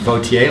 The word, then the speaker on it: Vautier: It's French, pronounced Vautier, like you're voting.